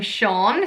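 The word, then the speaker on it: Seán: on my list is the name Shawn spelled se a and again the more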